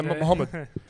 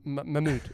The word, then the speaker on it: Mahmoud: They say Mahmoud, they go Muhammad. How are you, Muhammad? And I'm like, mate, my name's Mahmoud.